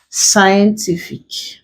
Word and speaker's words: scientific: We stress the syllable before the last. So it is the last syllable, TI is what we'll stress here. Scientific.